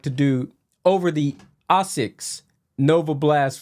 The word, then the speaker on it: ASICS: I always say ASICS, but the actual Japanese pronunciation is ASICS.